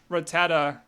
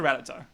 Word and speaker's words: Rattata: the presentation of rattata i actually used to prefer rattata as the pronunciation but i heard ratata too many times i believe it is the canonical pronunciation so i've i've switched to ratata also if you want